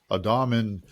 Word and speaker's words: Adamian: So, without further ado, please welcome Adamian to the Church Solutions Podcast.